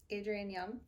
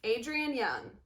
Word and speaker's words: Adrienne Young: Adrienne Young. Adrienne Young.